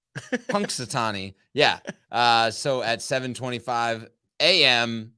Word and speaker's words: Punxsutawney: Punk, like a punk. Punxsutawney.